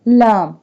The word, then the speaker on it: ل: والحمد للہ ولا الہ۔ لام لام pronounced from the edge of the tongue touching the gums of all the top front teeth۔ لام زبان کا کنارہ